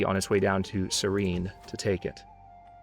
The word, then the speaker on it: Cyrene: his way down to serene to take it that's how you pronounce it I think it's actually Cyrene might be a holdout from the time of Cyrus the Great maybe it's called out